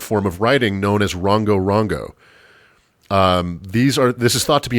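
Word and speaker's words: Rongorongo: If you're interested, you should look up these planks, just spelled like it sounds, Rongo Rongo.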